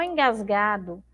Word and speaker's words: engasgado: Ficou engasgado. Olha lá, engasgado. Também termina com a letra O.